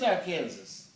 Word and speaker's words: Arkansas: It is Arkansas. It is Arkansas. There's a pronunciation Arkansas rather than Arkansas.